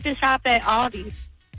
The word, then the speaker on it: Aldi: They I did I actually said I said Aldi's. I I said Aldi. Some people pronounce it Aldi's, but it's right.